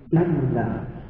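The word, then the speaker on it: إِلَّا: Jadi kalau ini dibaca illa. Lamnya ada tasdid berarti illa. Ya. Kalau gini nggak ada tasdidnya berarti baca ila. ila. Kalau ini ada tasdid berarti illa.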